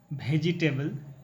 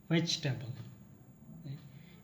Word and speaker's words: vegetable: oh it should be vegetable in order to pronounce the e sound after the letter G it should be silent so let me split